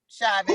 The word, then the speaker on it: Chauvin: Chauvin.